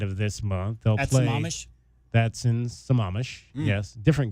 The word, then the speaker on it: Sammamish: Is that how you pronounce it? Sammamish, Washington, suburban Seattle. Can we just say that? Yes, you can say that.